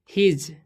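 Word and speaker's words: his: ठीक है, फ्रोम, इसे पढ़ेंगे हम फ्रोम हिज। ठीक है, इसे हिस नहीं पढ़ना है, हिज पढ़ेंगे।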